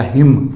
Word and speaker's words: hymn: इसी तरह का वर्ड है HYMN, यानी एम और एन यहाँ अपना साइलेंट हो जाएगा, हिम।